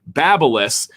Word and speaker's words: BaByliss: i did find out that's officially how you pronounce it so take that everybody babyliss or something like a high-end one but look